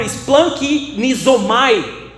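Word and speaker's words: σπλαγχνίζομαι: A palavra compaixão no grego, ela é uma palavra pronunciada por splankinizomai, que quer dizer o que no grego?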